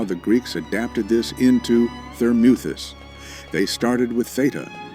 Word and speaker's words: Thermuthis: The Greek mu spelled m o u in Greek is a long ooh sound exactly like moot.